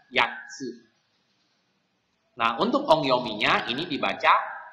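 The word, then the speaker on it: 八: Ya, sekali lagi untuk kanji angka 8 itu dibacanya yatsu. Nah, untuk ongyominya ini dibaca hachi.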